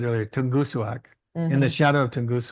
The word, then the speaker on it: Tungusuak: asked that can you give us the correct pronunciation of the title I'm gonna just copy what Mark said earlier tongus suak in the shadow of tongus suak we always